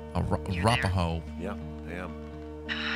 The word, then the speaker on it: Arapaho: I don't even know how to pronounce that. I'm sorry. Here, let Henry do the work. Camp Arapaho. Arapaho.